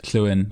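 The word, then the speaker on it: Llewyn: one of our names Kuen which is consistently mispronounced in the film the double L is a letter in and of itself in the Welsh alphabet which is was the sound.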